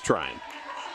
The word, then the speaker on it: Tryon: It's Tryon, at least according to the pronunciation sheet that Santa Cruz provided.